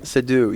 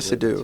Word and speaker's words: Seydoux: Seydoux, yes, Leah Seydoux. That's how it's pronounced.